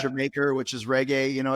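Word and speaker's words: D'yer Mak'er: more times Journey dire maker which is actually pronounced your maker which is reggae you know it's like there's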